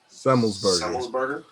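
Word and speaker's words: Semelsberger: Semmelsberger.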